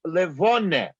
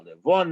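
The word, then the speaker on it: לבֿנה: So it's levone. And the levone, the moon, the pronunciation, of course, varies depending on the dialect. To the Litvak, it's a Livone, as in standard Yiddish. In the southern dialects, it's Livune.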